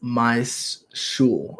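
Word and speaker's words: Michal: My name is pronounced My Shul. Okay, My Shul. Like Michael with an SH sound.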